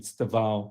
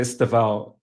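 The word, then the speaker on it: Estêvão Willian: Correct pronunciation. Stava. Stava. Stava. William. Stava. Look, I'm just going to say Estava. Estava. I'm not from Brazil. I'm not from Portuguese background.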